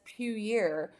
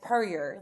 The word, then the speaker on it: Puryear: Everyone says Puryear, but it's Puryear. Like, don't make it fancy. It's just Puryear, Tennessee. Okay, well that's how I